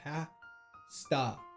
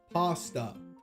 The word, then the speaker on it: pasta: You just need to pronounce the first a like the last one. Pasta. Pasta. Pasta.